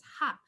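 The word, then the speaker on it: ห้า: uh and five because in thai five is pronounced as ha so i like to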